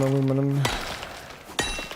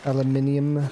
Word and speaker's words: aluminium: I guess I should go ahead and get some aluminum. Aluminium.